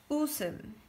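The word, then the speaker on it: 웃음: So pronunciation is u sum. Okay? Usum. Because that ending consonant shield is going to up this here. So we are pronouncing usum.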